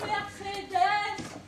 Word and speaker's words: Mercedes: Mercedes ah oh d'accord merceddes je savais pas qu'il fallait prononcer le S euh d'ailleurs euh il